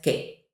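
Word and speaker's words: qué: with an accent okay that U is silent it's just k k is what is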